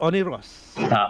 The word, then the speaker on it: Oniros: All right then, have you ever heard of Oniros? No. Did I pronounce it correct, Jem? Is Oniros. Oniros.